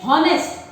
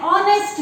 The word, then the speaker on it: honest: We don't tell honest. We tell honest man. We tell he is an honest man. Honest, because H is silent.